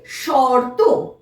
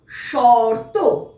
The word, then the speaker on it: শর্ত: তালুবে স যুক্ত র যুক্ত ত, তাহলে এর উচ্চারণটা হবে শর্ত। শর্ত। তাহলে আমরা বুঝতে পারলাম যে যে কোনো বর্ণের মাথায় যখন রেফ থাকবে ঠিক তার আগে র উচ্চারিত হবে।